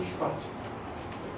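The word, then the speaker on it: Schwarz: 독일에서는 이 W 발음을 V로 읽어요.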